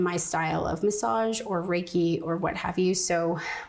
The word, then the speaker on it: Reiki: Like if you because you yourself do Reiki.